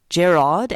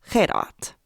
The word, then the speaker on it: Jared: on good authority that his name is pronounced Jerrod and not Herat not everyone with an